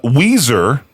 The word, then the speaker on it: Weiser: Uh Weiser Which is spelled like Wiser.